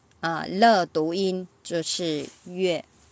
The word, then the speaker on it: 樂: Có liên quan, khi mà nó có liên quan tới âm thanh, từ này sẽ đọc là yue. Lơ tụ yên, chứ sử yue.